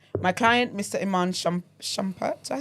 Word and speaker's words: Iman Shumpert: Iman Shumpert, did I say his name right? Iman Shumpert, yeah.